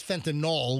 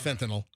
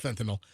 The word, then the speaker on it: fentanyl: He says, "Fentinol," which is the wrong way to pronounce it. It's fentinyl, not fentinol. It's not like Tylenol. It's fentinyl.